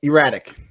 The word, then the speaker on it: E-Ratic: Yeah, E-RATIC. So, yeah, you don't have to emphasize the erratic.